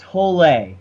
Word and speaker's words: Hole: I was called I was saying it Harry Hole the whole time three three-and-a-half books later I found out it's pronounced tolay but wait oh you shame oh you're saying